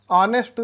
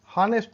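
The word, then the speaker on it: honest: ऑनेस्ट सुनते हैं, हॉनेस्ट नहीं। तो एच जो साइलेंट होता है वो देखते हैं। पहला लेटर एच साइलेंट का एच, ऑनेस्ट, ऑनेस्ट ईमानदार, एच साइलेंट है।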